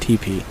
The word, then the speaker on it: teepee: from because I was I pronounced it tepy but I know it's actually pronounced TP uh and then I